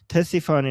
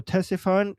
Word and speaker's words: Ctesiphon: Uh T- uh Ctesiphon. Ctesiphon. Okay? So, Ctesiphon in uh So, the C apparently is not uh silent. Ctesiphon in English or Tisfun in Persian. Uh So, Ctesiphon uh this was the capital of the Sassanid Empire.